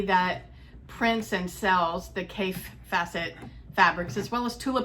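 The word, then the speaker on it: Kaffe Fassett: is a I always thought his name was pronounced Kathy facet but I've heard Adam from Adam sews pronounce it and he says cave facet so there is a challenge on Instagram from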